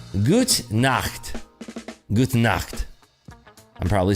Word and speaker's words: Gute Nacht: How do you say good night in German? Guten Nighten. What is it? Gute Nacht. I can't say that right. Gut Nacht. Gute Nacht.